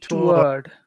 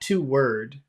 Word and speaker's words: toward: be a good idea No it should be one word toward toward and it's it's those are the two those are the vowel sounds toward toward yeah okay okay yeah it's not to it's not to word it's toward toward okay toward a word